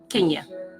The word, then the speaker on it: Kenya: if you ask me I say it's Kenya like the country I'm saying country because of the spelling and I'm saying Kenya because my mom pronounced it with the long e but I would never